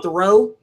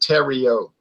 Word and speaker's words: Terrio: That's Thoreau, and I will see you later. All right. Okay, and by the way, it's pronounced Terrio. Oh, Terrio. I'm sorry. Yeah, like Cheerios.